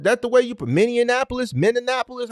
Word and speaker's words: Minneapolis: Is that the way you put Minneapolis? How you pronounce it?